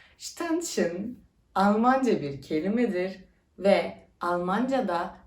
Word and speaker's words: Ständchen: sarf ettim burada yazabilirdim Yazdım ama daha net bir bilgi net bir telaffuz istedim tension Almanca bir kelimedir ve